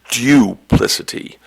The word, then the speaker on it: duplicity: The word, this word could be pronounced a couple of different ways, and I'll give you some alternative pronunciations. The word is duplicity. It can also be pronounced duplicity.